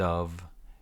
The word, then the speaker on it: of: word linking here instead of and of is sounds like a v no o no F of of instead of